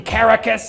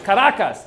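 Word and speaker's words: Caracas: In Caracus, he calls it caracus. It's like it's karacas, dude.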